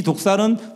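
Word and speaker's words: δόξα: 여기서 영광이라고 나와 있는 이 단어 헬라어는 독사입니다. 한국말로는 뱀의 종류라고 생각할 수 있는데 발음이 똑같습니다. 독사. 근데 이 독사는 뜻이 한 4가지 정도 되는데 그 첫 번째 뜻이 바로 의견, 판단, 견해입니다.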